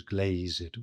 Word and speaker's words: glazed: And glazed is pronounced with two syllables. That hath his windows glazed with thine eyes.